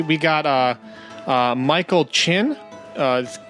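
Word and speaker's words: Kinn: We got uh uh Michael Chin. Uh K K I N N, but it's he says it's pronounced like chin.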